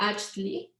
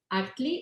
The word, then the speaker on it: Achtli: Actually, it is pronounced Achtli, but we know it's kind of difficult for someone and everybody's going to call it Achtli, so we don't have a problem with that.